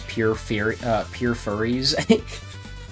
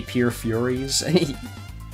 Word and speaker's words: Pure Furies: I keep mispronouncing the name of her song as Pure Furries. Even though I'm pretty sure it's supposed to be Pure Furies.